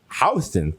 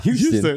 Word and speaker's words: Houston Street: Houston Street's pronounced Houston, not Houston.